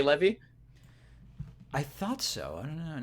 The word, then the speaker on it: Levy: Levy. Levy or Levi? Levy. Levy.